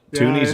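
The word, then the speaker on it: toonies: the chat there but tunies is there's no W in it it's just t o o n i e s it's just like just like Looney with a t so it's spelled wrong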